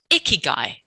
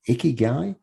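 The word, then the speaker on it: 生き甲斐: And Gai, which was actually pronounced Kai, or it was spelled Kai, K-A-I originally, and then moved because it was easier to pronounce Gai.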